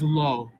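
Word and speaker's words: לא: happens is before an olive so actually the pronunciation of a lamid with a comats under it followed by an olive is low in this case not in every case and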